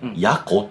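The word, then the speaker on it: 野狐: 何かって言うと野生の矢に狐って書いてやこって読むんですよこ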